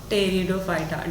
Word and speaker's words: Pteridophyta: See here, P is a silent, so pronounce it as a Pteridophyta.